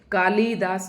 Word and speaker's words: कालिदास: तो कालिदास में कालिदास नहीं होता। कालिदास होता है। ल बहुत जल्दी उच्चारित किया जाता है।